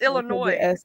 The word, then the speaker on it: Illinois: The S is silent. It's Illinois.